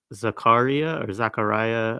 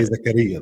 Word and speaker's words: Zakaria: One of the figures that was released today was, I may mispronounce this, correct me if I do, Zachariah Zubeidi. Yeah, we say Zakaria though.